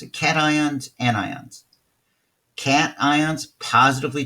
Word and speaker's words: cation: if you remember but a cat ion is like like this guy's cat that is a positively